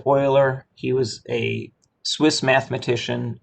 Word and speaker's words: Euler: it's spelled within you know this eu it's pronounced euler he was a swiss mathematician in the uh